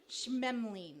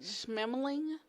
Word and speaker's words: Schmeling: Schmemling. Schmemling?